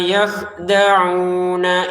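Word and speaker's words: يَخْدَعُونَ: Walladzina amanu wa ma yakhda'un, wa ma 2 harokat, yakhda'un. Kalau kita berhenti jadi 6 harokat ini. Kalau kita lanjutkan jadi 2 harokat. Wa ma yakhda'una illa gitu ya.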